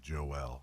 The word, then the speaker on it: Joel: So he actually pronounces his name Joel.